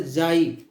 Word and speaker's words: psi: और इसको हम जो डिनोट करते हैं वो वाई लेटर जाई, ये जाई से इसको हम जाई पढ़ते हैं, PSI। ये P साइलेंट होता है, वैसे इसको जाई पढ़ते हैं।